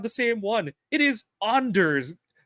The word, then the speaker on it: Anders: I hear him he's always calling him Anders no it's Anders Anders like I